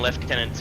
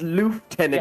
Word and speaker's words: lieutenant: Well, I mean we call them left tenants here in Australia. So yeah, but you call it left tenant like whereas lof tenant is how it's pronounced on this one.